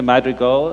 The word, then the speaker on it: Madrigal: So Victor Madrigal, is that the correct pronunciation?